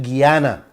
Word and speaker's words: Guyana: talking about your wealth can't pronounce Guyana pronounce it Guyana I wanted to play